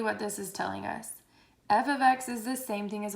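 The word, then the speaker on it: f(x): refresher from algebra one if you see this f parentheses x parentheses it is pronounced as f of x okay this is how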